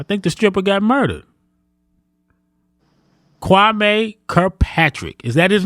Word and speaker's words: Kwame: Kwame Kirkpatrick. Is that his name? Did I say it right? Kwame, yes, sir.